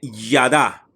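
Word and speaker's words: יָדַע: En hebreo, esta palabra es el H3045 y se dice Yadá, Yadá, conocido, Yadá, ¿ok?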